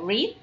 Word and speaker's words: read: Por ejemplo, ahí tenemos uno que es read, ¿sí? Leer. Y en pasado se pronuncia red, como el color rojo. Entonces, read, presente, red, pasado.